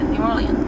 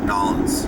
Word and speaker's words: New Orleans: New Orleans. You're saying it great. Nolans.